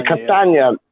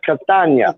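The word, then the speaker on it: Castagne: Yeah, Castagna, not lasagna, Castagna.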